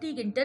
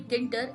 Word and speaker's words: Tkinter: Basically in Kinter, T is silent. It is not called tkinter, it is basically Kinter, and this is the